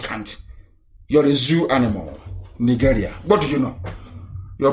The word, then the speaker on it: Nigeria: As long as Nigeria, that's the proper pronunciation, not Nigeria is the phone, Nigeria, it sounds a bit, okay. The proper name is Nigeria.